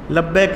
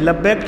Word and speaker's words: لبیک: کچھ بھائی اس کو غلط بھی پڑھنا شروع کر دیتے ہیں، لبیک لبیک کہتے ہیں، لبیک ٹھیک نہیں ہے، صحیح تلفظ ہے لبیک لبیک اللہم لبیک